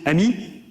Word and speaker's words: AMI: So we call this AMI adi amino AMI advanced machine intelligence advanced machine intelligence we pronounce it emi which means friend in French.